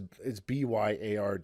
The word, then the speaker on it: Byard: Bird? Is that what you said? Bird? No. His name is Byard. It's pronounced.